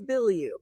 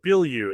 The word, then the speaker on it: Bilyeu: It's Bilyeu. Bilyeu. Yeah. See, I thought that's what the way, so it actually is spelled exactly the way it sounds.